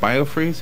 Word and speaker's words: Biofreeze: a product that's like a roll-on product called BioFreeze.